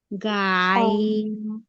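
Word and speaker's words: غين: র, আইন, আইন, আইন, গাইন, গাইন পড়াইনি আপু, আইন পড়াইছি, আইন, আইন। আইন, আর গাইন বলতে কোনো হরফই নাই, উচ্চারণ হবে গইন। গইন, ওকে, শেষ থেকে আওয়াজ হবে গইন, গইন, ফা, ফা, ফা,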